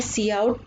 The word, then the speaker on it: cout: अभी मैंने आपको बताया सी आउट में हम ये आइडेंटिफायर सी आउट प्रोनाउंस्ड करते हैं, हम इसको सी आउट, साफ समझ में आ रहा है, आउटपुट के लिए सी आउट यूज करते हैं।